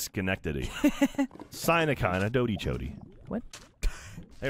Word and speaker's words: Schenectady: No, it's pronounced Schenectady.